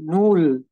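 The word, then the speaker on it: null: হয়ে যাবে অনেকটা ঠিক আছে তাইলে দেখেন একটু উচ্চারণ গুলোতে কি কি পার্থক্য আসতেছে সবার শুরুতে দেখেন নূল যেটাকে আমরা জিরো বলি সেটাকে তারা বলতেছে নূল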